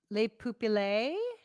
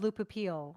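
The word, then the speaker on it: Le pupille: yeah it's weird the mic Webb says is pronounced Le poopy lay okay I thought it was Lupa peel okay I believe you um and Bradley says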